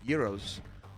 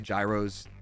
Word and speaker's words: gyros: my favorite food for a long time was Euros um a lot of people say Gyros it's pronounced Yos but like who cares um because my where